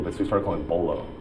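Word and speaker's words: Beaulieu: what I'm talking about Cory Bullu but just pronounces bolo Trivia to me is just it's everything besides my family and and friends.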